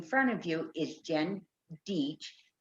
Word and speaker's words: Dietsch: of you is jen dietch that rhymes with beach there you go yes